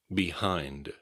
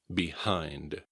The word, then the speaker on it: behind: Behind. Be sure to keep the D at the end. Behind. Some people will struggle with the H sound in this word. Behind. The emphasis is on the second syllable.